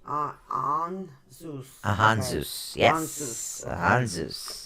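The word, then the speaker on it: Ansuz: Anzus. How do you say that again? Ehan Zeus. Anzus. AHN dash HN. On. dash SOOZ. Zeus. On Zeus.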